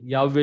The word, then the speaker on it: Yahweh: Yahweh is the proper pronunciation, because the first syllable of the word, that is Yah, it's in Psalm 68 verse 4.